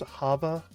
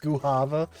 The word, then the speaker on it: guava: Um, it's Wait, it's actually pronounced guava. God damn it. Here. I thought it was like a Spanish thing where like it was going to be like an H sound rather than a G.